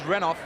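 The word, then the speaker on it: Renouf: hand to it and for those viewers that are concerned about our pronunciation of runoff or renew for we've had the call from the dressing room that it is runoff the angle for him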